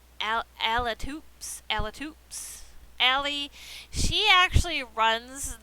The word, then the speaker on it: Alitoups: I always thought this was Allie Troops, but I put her name wrong. It's Allie Alatoops.